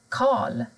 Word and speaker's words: Karl: Men har du R och L tillsammans, då försvinner R. Till exempel värd, Karl.